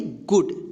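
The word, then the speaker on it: good: यहाँ पे देखिए छोटी ऊ की मात्रा का उच्चारण हुआ है। टी डबल ओ के, टुक। जी डबल ओ डी, इसको क्या पढ़ेंगे, गुड, ठीक।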